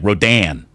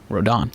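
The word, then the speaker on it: Rodón: you think you know on the carlos radon radon pronunciation it says r-o-w-d-a-a which makes it look like rodan well unless you speak dutch which you do or you eat indian food like naan rodon rodan non okay that's good i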